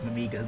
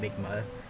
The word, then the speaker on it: Mimigas: I've been pronouncing it wrong this whole LP, but it's Mimigas, not Migma.